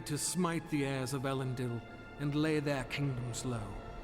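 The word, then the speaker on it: Elendil: smite the heirs of ellen dill and lay their kingdoms low it's pronounced like a more like an e sound than an eye sound i'm afraid sir but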